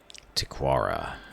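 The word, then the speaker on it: Tikawara: tell an outsider in tigara who are you stranger tequara that's how you pronounce it her hand strays toward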